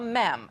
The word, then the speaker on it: mem: Yeah, it sounds gross, but I'm going to introduce you to something called a mem. Not a meme. I promise I'm saying it right.